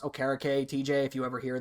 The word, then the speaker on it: Okereke: It's actually pronounced Okereke, TJ, if you ever hear this. It is pronounced Okereke.